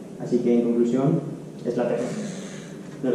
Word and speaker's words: LaTeX: El caso es que esa X, que parece una X, al final no es una X, sino que es una chi griega, y se pronuncia J. Así que, en conclusión, es LaTeX, no es LaTeX.